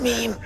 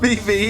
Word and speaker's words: meme: And it's pronounced meme. It's spelled M-E-M-E. The second is silent. Mimi, You're it's a meme.